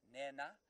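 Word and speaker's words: Nhenha: A slightly aspirated H or N, so it's Nena.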